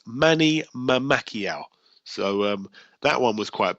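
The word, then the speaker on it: Mamacquiao: is Manny Mamakiao, and that is M-A-M-A, like mama, C-Q-U-I-A-O. So it's spelled exactly the same. It's Manny Mamakiao.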